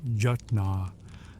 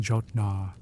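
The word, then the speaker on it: jötnar: He tries to teach you how to pronounce jutnar, the word for frost giants. You keep saying jotnar, which apparently sounds like greedy belly button.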